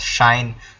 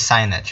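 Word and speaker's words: sinh: Now we pronounce this as shine cos tan uh coet such and cot.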